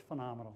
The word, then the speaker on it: FUNomenal: under phenomenal its assists sounds the same as phenomenal but it's the first three letters spell fun so it's phenomenal that's how you pronounce it we have it's called phenomenal Energizer's we have all